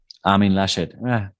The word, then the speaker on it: Armin Laschet: What about am I pronouncing his name correctly? Armin Laschet? Armin Laschet.